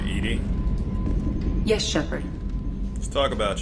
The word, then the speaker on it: EDI: are you named Edie Edie is the phonetic pronunciation of EDI that is an acronym for enhanced defense intelligence I want to change